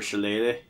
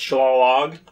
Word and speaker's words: shillelagh: hitting me with their shillelagh it's actually pronounced sha log it's a long log yeah okay cool Jackson